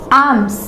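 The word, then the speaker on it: alms: आर्म्स यानी भीख या भिक्षा, उसको हम आर्म्स बोलते हैं, ये हमेशा ऐसे ही लिखा जाएगा, इसमें एस होता ही है, कभी भी इसे आर्म नहीं लिखा जा सकता, एल साइलेंट होता है इसमें।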